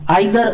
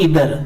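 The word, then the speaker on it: either: आइदर जज between देम, आइदर की pronunciation दो तरह से होगी, आइदर और इधर दोनों तरह से सही है।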